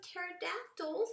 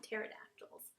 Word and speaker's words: pterodactyls: in the time of pterodactyls and look at that P is silent so we don't call them cut pterodactyls pterodactyls SS Asylum P not